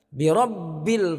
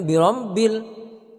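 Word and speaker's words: بِرَبِّ: Kemudian birabbil falaq, birabbil, jangan birambil, karena terkadang ada yang bacanya sepertinya ada dengung di sini. Nah itu salah. Jadi harus dibaca tanpa dengung. Birabbil, birabbil. Jadi jangan birambil.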